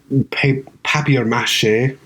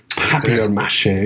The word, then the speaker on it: papier-mâché: of it, and there's like, a built-up, like, papier-mâché, if I'm going to use the British way of saying it. Papier-mâché.